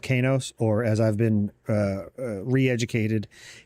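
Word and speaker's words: Qeynos: But because it is spelled the way it is, a Q without a U and then an E always pronounces as K.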